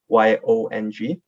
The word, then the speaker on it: Yong: play on words because my last name is like y-o-n-g so it's yong so i changed it